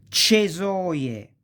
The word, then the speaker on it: cesoie: So, cesta, ceci, cerbiatto, cesoie, cento, ce. You pronounce like chest.